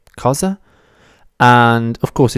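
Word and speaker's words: cosa: The word is ka. It's also very easy to pronounce, isn't it? Ka. C like in cool and z like in zoo.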